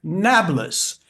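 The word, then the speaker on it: Nablus: um popularly known as Nablas. Nablas because the Arabs cannot pronounce Neapapolis.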